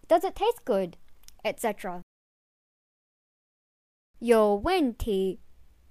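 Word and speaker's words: 有问题: 有问题, the third, fourth, and second tone, means there is or have a question or problem.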